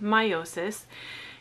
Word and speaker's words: meiosis: that's called division by meiosis this word right here looks it's spelled a little bit funny but it's pronounced meiosis and again we're going